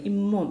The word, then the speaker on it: 잇몸: 합성어의 앞말과 뒷말 사이에 니은 또는 니은 니은이 천가되어 발음되는 건데 이하고 몸이 만나니까 잇몸 이렇게 되는 거야. 잇몸 이렇게 발음되는 거야.